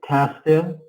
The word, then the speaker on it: castle: did you visit the castle yes Castle Musa don't pronounce the T don't say castle castle